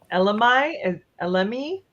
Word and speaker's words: elemi: So black pepper, elemi, Mhm. how do we pronounce that?